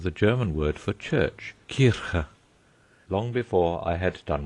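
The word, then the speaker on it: Kirche: In trying to attain the correct pronunciation of the German word for church, Kirka, long before I had done with it, I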